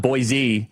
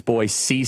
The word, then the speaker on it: Boise: They said it's not Boise, it's Boyise State.